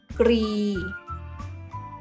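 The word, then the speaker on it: กรี: นะ คะ อ่าน ว่า kri kri of เสียง พยัญชนะ ต้น สอง ตัว ควบ กัน นะ คะ หมาย ถึง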